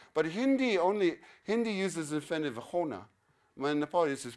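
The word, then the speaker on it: होना: But Hindi uses the infinitive hona. When Nepali is pronounced huna.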